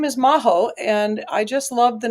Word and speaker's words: Majo: And I love that because I said, "Oh, just tell everybody it rhymes with Tahoe." And she's like, "Oh, okay. We'll just do that." So it's maho.